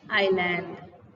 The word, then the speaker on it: island: टापू, island. It is not island. Here we have S is a silent letter. So we should pronounce it island.